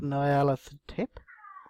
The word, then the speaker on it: Nyarlathotep: So, so with that being said, we'll start on the beginnings of the Masks of Nyarlathotep. And anybody that wants to poke fun at my pronunciation of that, feel free.